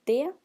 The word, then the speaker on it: det: And pay attention to the difference in pronunciation between det or de. Det, which means it, and de, which means they.